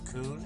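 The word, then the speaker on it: Köln: I started out in Dover, way over here, and currently I'm in Cologne, right here, Coon, as it's actually pronounced.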